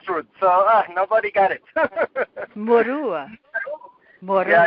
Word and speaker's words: Murua: But how does Jose pronounce his last name? Murua.